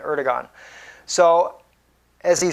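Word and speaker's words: Erdoğan: to Syria through Turkey with the help of erdowan Oregon is how he pronounces his name against was more correct what he said Erdogan so as he said he's out of touch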